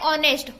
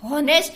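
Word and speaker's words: honest: यहाँ पे हम क्या बोलते हैं? ऑनेस्ट. हॉनेस्ट नहीं बोलते, ऑनेस्ट बोलते हैं. ओके. यहाँ पे एच साइलेंट है.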